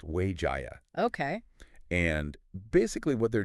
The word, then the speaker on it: 滙嘉: So 滙嘉 Health, it's actually pronounced Wayjaya.